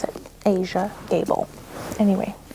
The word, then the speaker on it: Aja: Asia. Asia. That's how you pronounce it. Asia Gable.